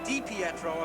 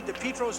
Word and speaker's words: DiPietro: In Sault Ste. Marie, Dipietro's hometown, the pronunciation is most certainly Dipietro. In Southern Ontario, they've changed it to Dipietro, and Rocky Dipietro has